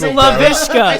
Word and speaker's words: Laviska: Laviska.